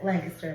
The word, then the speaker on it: Lancaster: oh right right but Lancaster is how you're supposed to say it like really fast Lancaster lanaster Lancaster there's no like